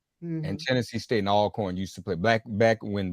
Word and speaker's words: Alcorn: And just one correction, Mark, Alcorn, not Alcorn. All. I'm sorry. That's why you look like that. I done had the facts wrong. I had the pronunciation wrong, y'all.